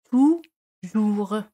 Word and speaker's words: toujours: Toujours. Aquí, O y U se pronuncian como la U española.